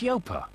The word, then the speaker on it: Yoper: It's not Ya, it's Yoper. Local agents, low fee, complete control.